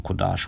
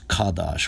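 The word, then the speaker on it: kodesh: people slip up and refer to it as as kadash or pronounce the character Ka instead of qua as was just seen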